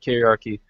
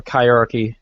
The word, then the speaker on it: kyriarchy: Patriarchy is still a point of the conversation, but kyriarchy or chirarchy, depending on how you pronounce it, becomes a bigger point